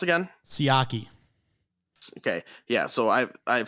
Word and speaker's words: Siaki: What do we determine it's pronounced again? Siaki.